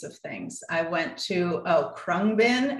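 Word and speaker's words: Khruangbin: I went to Krungbin. It's impossible to pronounce or spell. It's Khrungbin, but they're a band in Houston.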